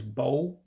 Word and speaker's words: bụ: The next word is bo. The U with the dot underneath is a diacritic as well, meaning it has a different pronunciation. It has an O sound.